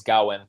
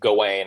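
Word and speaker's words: Gawain: That's how it's pronounced in the movie is Gowen. Um, but I mean I mean the the more western pronunciation would would be Gane.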